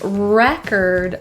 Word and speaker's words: record: because it's off the record, okay? In this case, record, the stress is on the first syllable rather than record, which would be the verb. So record is the noun form.